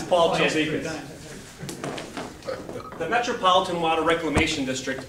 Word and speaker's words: Chialdikas: It got butchered a little bit earlier, but it's Paul. It's Paul Chialdikas.